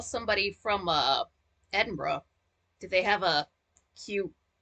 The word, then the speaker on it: Edinburgh: Edinburgh. Eden, Edinburgh. It's not pronounced burger like the food, is it?